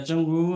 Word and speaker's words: Zhengwu: the last speaker so my first name name pronounced like jungu I know it's really